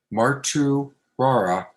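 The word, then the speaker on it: Martuwarra: f i t z r o y river mark two rara fitzroy river dot org and that's where you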